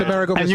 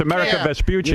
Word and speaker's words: Amerigo Vespucci: I knew it, and it's Amerigo Vespucci. And you said it wrong. It's America Vespucci.